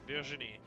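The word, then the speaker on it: Virginie: Vini is in fact a French name also. That's how you pronounce it. Virgini not virgini.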